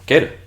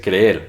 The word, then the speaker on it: creer: coloquialmente pronuncian creer Entonces el verbo creer muchos lo pronuncian simplemente quer verdad no sé qué creer en vez de creer no sé qué creer